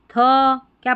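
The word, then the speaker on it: think: बी को अम्ब पढ़ते, थ आई एन के को इंक, थिंक।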